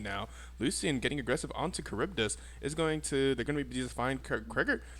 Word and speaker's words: Charybdis: So So that's how you lots pronounce of his name. Charybdis.